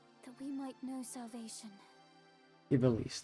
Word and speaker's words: Ivalice: Ibelice. That's how you say it.